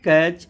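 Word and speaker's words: catch: बिल्कुल easy concept है जब भी टी के बाद न या टी के बाद सी एच आ जाए तो आप टी का उच्चारण नहीं करेंगे टी साइलेंट लेटर की फॉर्म में हो जाएगा जैसे यहां पे चार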